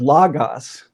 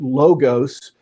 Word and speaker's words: logos: sometimes people pronounce it logos. And what they might not be aware of is that in the Greek language, there actually were two different letters for our O sound.